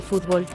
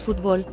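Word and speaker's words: futbol: Un detalle: se dice fútbol, cuando en México decimos fútbol, palabra aguda, o sea, con acento en la O, no en la U.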